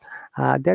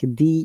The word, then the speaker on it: the: learners ask this question when we should use d as a d sound or d as a dow sound there is some conventional grammar rule that will use d when the next sound starts with a vowel like the usa the united kingdom but when the next words that starts with consonants we say like the philippines the falkland islands okay the united arab emirates very examples okay guys